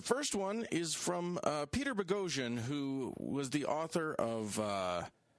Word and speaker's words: Boghossian: We have Pete Boghossian. Sorry, Pete. He explained to us earlier, listeners, that it rhymes with explosion.